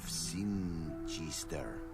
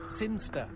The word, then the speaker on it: Sinchester: But Elliot Thomas was still stuck down on Earth in the boring town of Sinchester. Sinster. What? It's pronounced Sinster.